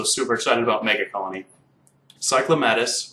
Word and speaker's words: Cyclomatus: Cyclomatus, which I refuse to pronounce as Cyclomaduth, even if they make that his official thing, Cyclomatus just sounds awesome.